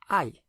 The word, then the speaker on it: hay: the word for there is and there are is hay. Hay, pronounced a bit like the I in your head that you see out of eye, spelled H-A-Y, I.